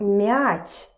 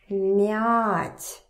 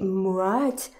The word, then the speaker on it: мять: So mother with this hard m here is mother, мать, and we have the verb мять, to crumble, мять. Ma, mia. So if you pronounce this one as hard M and say mwat, of course people will